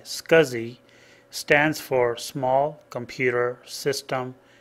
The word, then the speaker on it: SCSI: scanners SC s CSI pronounced scuzzy like s c u z z y scuzi stands for small computer